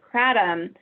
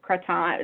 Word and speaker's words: kratom: trend and use of kratom or Croton is pronounced most different ways depending on who is pronouncing it but when I've seen